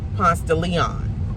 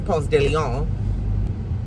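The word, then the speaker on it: Ponce de León: Ponce de Leon is how we pronounce it, even though it's Ponce de Leon.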